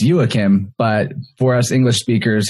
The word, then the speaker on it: Joakim: friend named jack hagstrom actually his name is pronounced yuakim but for us english speakers he just lets